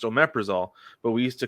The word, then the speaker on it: omeprazole: It's pronounced omeprazole, but we used to call it omeprazoles because of how it's spelled.